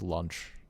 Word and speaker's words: Lunch: And, Yeah, that's closer to that's like how they pronounce it in Japanese. Yeah. And then like launch is always lunch.